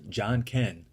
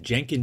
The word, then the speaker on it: Janken: research and learned that in Japan they call the game rock-paper-scissors John Ken and I thought the name was a perfect fit and if you want to pronounce it jenkin deck that's fine too now here's the basics